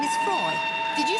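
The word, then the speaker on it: Froy: By the way, my name is Freud. Did you say Freud? No, Freud, not Freud. Freud. I'm sorry, I can't hear you. Freud rhymes with joy.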